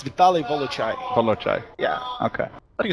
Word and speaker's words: Vitali: It's Vitali Volai.